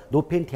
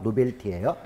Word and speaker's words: 노벨티: 그 노벨티 광고가 있는데 이 발음은 조심하셔야 돼요. 노펜티 아니에요. 노벨티예요.